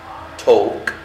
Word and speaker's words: talk: اولا عندنا على الشمال verb read يقرأ، write يكتب، talk يتكلم، walk يمشي. طبعا talk و walk عندنا ال هنا والال silent يعني لا تنطق.